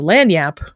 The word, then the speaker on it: Lagniappe: And speaking of the spelling, early appearances of the word in English do often spell it that nya sound as an ny, just Lanyyape.